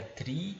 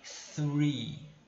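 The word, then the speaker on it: three: essas letrinhas em inglês eu tenho que pronunciar com a língua entre os dentes então a maneira a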